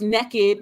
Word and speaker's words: Nekkid: the naked readathon so it is pronounced naked not naked naked and